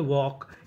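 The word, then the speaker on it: walk: जैसे डब्ल्यू एल के इसे पढ़ते हैं वॉक। यहां पे एल हमारा साइलेंट रहता है।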